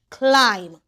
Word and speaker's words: climb: MB says M. The B is silent. C I'm climb.